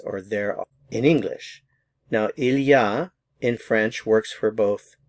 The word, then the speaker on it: il y a: It's the expression ilya. So it's three words il. We put it all together. Ilya. So, ilyah expresses the same idea as there is or there in English. Now, ilyah in French works for